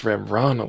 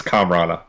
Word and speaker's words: Kamrana: It's Kamrana. I don't know why I've been saying it wrong. Yeah, it's Kamrana.